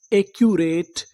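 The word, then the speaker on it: accurate: English का एक rule और होता है, अगर आपको किसी भी मीनिंग में कोई अक्षर दो बार लिखा मिले तो उसका उच्चारण हम लोग एक बार करते हैं। कहने का मतलब सी हमारा दो बार है, लेकिन कितनी बार पढ़ेंगे, एक बार।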